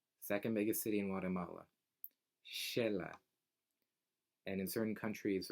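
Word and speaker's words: Xela: biggest city in Guatemala Sheila and in certain countries right the X has that pronunciation because of the roots from indigenous languages that's so a lot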